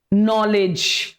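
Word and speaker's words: know: K-N-O-W, here the K is silent.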